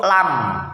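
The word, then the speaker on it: لام: Kemudian huruf berikutnya yaitu huruf lam. Nah, huruf lam cara bacanya yang pertama, pinggir lidah bagian ujung menempel pada gusi atas. atau gusi pada gigi geraham bagian depan, gigi taring dan gigi seri.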